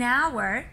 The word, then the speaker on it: hour: this rule are an hour you know the time so on before a silent H an H that is not pronounced and a university I